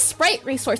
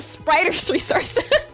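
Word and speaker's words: The Spriters Resource: It's not the sprite resource, it's the spriter's resource.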